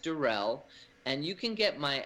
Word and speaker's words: Deruelle: the best way and my last name is d-e-r-u-e-l-l-e pronounced Durrell and you can get